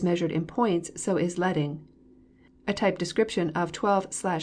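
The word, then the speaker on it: leading: to lighten the page line spacing or letting rhymes with sledding refers to the amount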